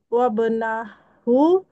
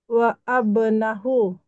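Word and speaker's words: وابنه: W wabnahu muhandisun benar. Wa abnahu bukan langsung dia bacanya wasal hamzahnya tidak dibaca wab wabahu jangan jangan di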